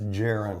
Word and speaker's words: gerund: Okay, gerund with a soft G.